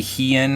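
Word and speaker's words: Hien: know it's I know it's probably he in and that's probably the pronunciation you're supposed to go with but I'm still gonna say hind because it's the way I didn't originally pronounced it so I'm gonna stick with it even if it's incorrect okay what does that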